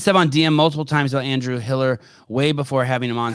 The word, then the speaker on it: Hiller: Uh team, please ban Steven Pillar uh from all of our uh Instagram. No, no, no, no, no, no, no, no. Plyer, sorry, I said your name wrong. Pillar. Hiller.